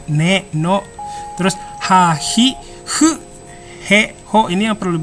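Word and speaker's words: ふ: Terus fu juga ya, fu-nya itu bukan fu ya, bukan fu, mungkin dituliskannya fu, tapi sebenarnya pelafalan antara F dan H ya, kayak gitu, hu gitu ya, hu, ha, hi, hu, he, ho gitu ya.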